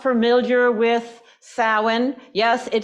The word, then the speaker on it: Samhain: winter for those who are not familiar with sin yes it spell Sam ha but pronounced sin because it's an Irish gelic word this is